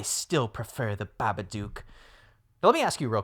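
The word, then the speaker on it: Babadook: I say like baba duke. Yeah cuz I think when he's reading it like it kind of rhymes with look.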